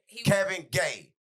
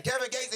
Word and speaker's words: Kevin Gates: So, everybody seen Kevin Gay's interview and he was saying he Kevin Gay, you got to say it right.